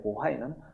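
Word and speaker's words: 渤海: 그 밑에 보하이만 이런데 보하이는 발해를 중국식으로 발음한 곳입니다.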